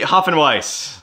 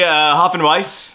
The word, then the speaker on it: Hopfenweisse: and we'll be doing the Hopfenweisse. Not to be confused with the Hopfenweisse. Hopfenweisse. Hopfenweisse. Pronounced It's a German word.